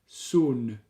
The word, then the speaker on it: Saône: I think it's Saône. S-A-O-N-E. Yeah, in my mind they would rhyme. Do they rhyme? Someone put a comment. Rhône and Saône. Rhône, Saône. Marianne says Saône.